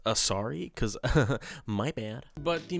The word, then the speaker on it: Asari: is editing Brandon apparently it's not pronounced azerai it's pronounced asari because my bad but